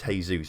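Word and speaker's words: Jesús: if he's not good you got the accent on the use of its hey-zeus isn't it but I do prefer calling him Jesus for the sake of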